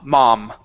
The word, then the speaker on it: mom: So instead of mo, open up your mouth wider. Ma, mom.